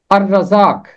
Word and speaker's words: الرزاق: اس کی مثالیں ہیں الرزاق، الرزاق یہاں لام کی آواز خاموش رہی۔ پھر ہے السمیع، یہاں